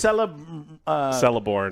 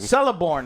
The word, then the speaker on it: Celeborn: It's Celeborn. Celeborn is what it is.